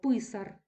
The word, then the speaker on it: писар: перед нами тверда група далі писар наголос падає на корінь перед нами м'яка група